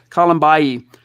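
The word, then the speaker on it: Kalambayi: Colombayi.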